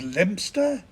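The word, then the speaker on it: Leominster: bright in Scotland is kirkubri Leo minster is lemster and tianmouth is tinmouth and habisberg is pronounced hayesboro while we're on the subject of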